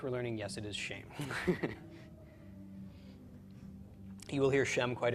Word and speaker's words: Shem: some other Sheen words shame followed by final mem with a Sarah under the sheen it's pronounced shame and shame is a